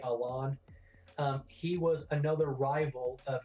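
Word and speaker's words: Alain: Y Z saga there was a character called a lon well that's how they pronounce his name on the anime in a way but it's actually spelled like Alan but they say along he was another rival of Ash's in the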